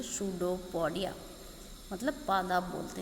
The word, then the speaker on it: pseudopodia: देखिए इसमें पी मैंने साथ में नहीं जोड़ा क्योंकि पी इसमें साइलेंट रहता है, इसलिए इसको बोलेंगे सूडोपोडिया, मतलब पादाब बोलते हैं हिंदी में।